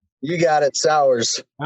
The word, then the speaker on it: Sauers: I didn't ask you about pronouncing your last name, man. Did I get it right or wrong? You got it, Sauers.